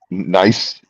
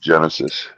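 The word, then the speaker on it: gneiss: It's a nice nice. It's pronounced nice or nice. Nice. I looked it up before I thought it was pronounced Genesis.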